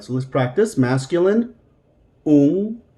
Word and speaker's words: un: Masculine, un. Now remember, for us, this un is going to sound like it has a soft G after the N in English.